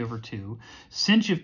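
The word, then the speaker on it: sinh: h after it and we actually pronounce that the way it looks cosh and cinch so even though i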